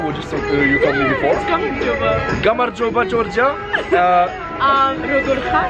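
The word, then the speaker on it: გამარჯობა: Gamarjoba. Gamar, that's not what you told me before. Gamarjoba.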